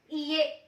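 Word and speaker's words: いいえ: वैसे ही नो को बोलते हैं ईए, ईए, ई की साउंड क्या होगी, ए की साउंड होगी, तो ये हो गया ईए।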